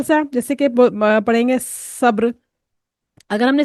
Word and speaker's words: صبر: لفظ آئے گا صبر، اگر ہم نے اس کو سین جیسے ادا کر دیا صبر، تو یہ تلفظ غلط ہوگا کیونکہ ہم سین سے صبر نہیں پڑھیں گے، صبر کے لیے بولیں گے صبر، صبر.